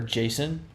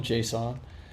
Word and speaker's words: JSON: Real test is JSON pronounced as JSON or Jason? There's only one correct answer. If someone calls it Jason, I'll flip the closest table, JSON. JSON. I guess that's another way of pronouncing it, like JSON. Like, I don't know. I hope you feel the glare I'm giving you right now. I've always said JSON.